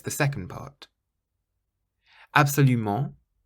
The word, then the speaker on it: absolument: Absolument, absolument, you stress the ment on the end, so it's not absolument or absolument, it's absolument, absolument. And fantastique, fantastique, so it's